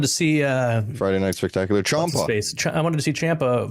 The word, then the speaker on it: Ciampa: Ciampa.